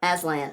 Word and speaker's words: Aslan: So like Aslan the lion, Aslan. Oh, Aslan. Aslan. Did I say it wrong? Well, you didn't say it wrong, but I heard a slightly different warped version of the lion's name. Yeah. It's the Aslan. Okay, there we go.